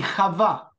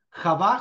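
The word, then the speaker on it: חוה: No decimos Adán y Eva, que es una traducción errónea, sino Adam, el nombre en hebreo, como se pronuncia. Y Javá, Javá, J-A-V corta, o Hedvevhei, que es el nombre original de la primera mujer en hebreo.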